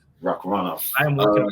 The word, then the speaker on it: Shavkat Rakhmonov: Shavkat Rakhmonov. Rakhmonov.